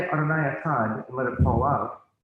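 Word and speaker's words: אחד: don't just say Adonai Echad and let it fall out. They say Adonai Echad, and they do a very pronounced daled or D sound.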